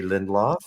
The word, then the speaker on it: Lindlof: welcome officially Mr lindlof to our am I pronouncing your last name correctly you are excuse me I just took a drink of water and went down the wrong way yeah lindlof or is it who